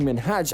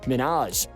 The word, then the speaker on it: Minhaj: She kept pronouncing Minhaj as Minaj, and truthfully, no one likes to hear their names mispronounced.